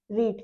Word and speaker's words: read: Okay, और ये third form है रीड की। ओके, रेड बोलते हैं इसे, बट ये सारे फॉर्म्स इसके सेम रहेंगे, बस इसकी जो प्रोनाउंसिएशन रहेगी ना, उसमें डिफरेंसेस आपको मिलेगा।